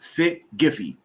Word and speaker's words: SYTTGIFY: um it's um it comes out to be pronounced sit giphy and it's so you think that so you